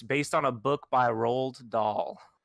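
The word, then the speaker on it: Roald Dahl: on a book by rolled doll rolled doll is the way i pronounce it you have to look how it's how it's spelled it's like ronald with no n in there it tells the story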